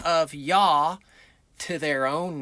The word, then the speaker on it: Yah: Well, the first two letters yod hey is a shortened form of the pronunciation of his name and it is pronounced yah.